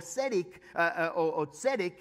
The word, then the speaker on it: tzedek: And there's a word for it, it's called tzedakah, and that or tzedek, and that's how you say it. It has a T in front of it.